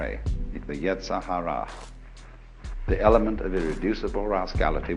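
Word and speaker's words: yetzer hara: rascality in Jewish theology this is called the Yahara uh ye e z e r h a r a the Yahara the element of irreducible rascality which was created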